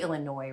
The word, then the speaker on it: Illinois: joining us from ASO Illinois welcome Peter it's probably Illinois right the S is silent okay whoops I'm commenting